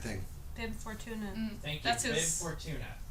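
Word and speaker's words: Bib Fortuna: weird cone head thing bi Fortuna thank you B Fortuna say it loudly so they can hear you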